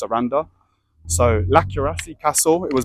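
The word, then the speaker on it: Sarandë: So this place, Saranda, is like ends with the E with the two dots, but I think it's pronounced Saranda.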